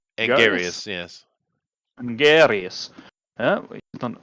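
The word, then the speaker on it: Anguirus: How do you pronounce it? Angarius. Angarius, yes.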